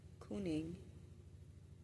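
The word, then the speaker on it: cyning: So um the Germanic development proto uh Germanic kuning tribal leader old English kinging pronounced roughly couning.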